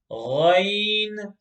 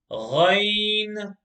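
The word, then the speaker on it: غ: The next letter, box number 19, is the letter Ghain, Ghain, Ghain. Full mouth. Ghain, Ghain. Okay? This is pronounced from the top of the throat.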